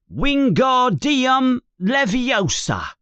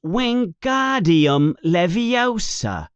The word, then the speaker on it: wingardium leviosa: You're saying it wrong, says Hermione in an impatient voice. It's wingardium leviosa. You emphasize the gar.